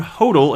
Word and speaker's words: Hodel: may let me know he likes his name pronounced stone Hodel instead of Hottel it looks like hobble